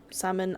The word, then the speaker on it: salmon: You can have just like normal salmon. I don't know what gravad lax is in English. Lax is salmon. I do know that. And I know not to pronounce the L in salmon.